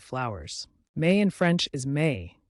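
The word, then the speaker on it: mai: May in French is May pronounced like the English word may it's a month of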